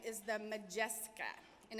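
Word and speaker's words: Modjeska: your table today it's official name is the majestic ax and it's spelled mo DJ es ka and it was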